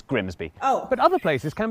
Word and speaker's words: Grimsby: But what if we told you it was pronounced Grimis? Hey! We'd be lying, it's Grimsby.